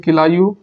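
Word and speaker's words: Kilauea: किलायू हिंदी में बोलते हैं, ऐसे इंग्लिश में किलायू प्रोनाउंसिएशन इसका होगा।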